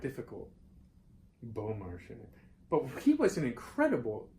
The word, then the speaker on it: Beaumarchais: Beaumarchais.